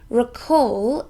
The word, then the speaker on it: recall: a long way away recall is a verb it has two syllables and we stress this second one recall it means